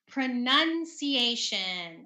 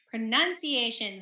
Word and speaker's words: pronunciation: that okay next is pronunciation okay pronunciation the verb is pronouns but the noun is pronunciation okay it's not pronunciation pronunciation okay then we